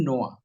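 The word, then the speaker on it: noir: film critics नाम film नो उसका उच्चारण है एन आई आर अभी भी बहुत सारे भारती को नोयर ही बोलते हैं उसका उच्चारण है फिल्म नो है वो हली फिल्म है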